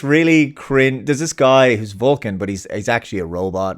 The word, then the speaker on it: Vulcan: Irish people would not, they don't say Velkin, they say Vulcan, right?